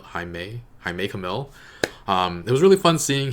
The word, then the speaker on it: Jaime Camil: hopefully it'll be okay I looked up how to pronounce Jaime Kamil's name and I think that's how you do it I make mil Jaime Camil hi may I make a mil it was really fun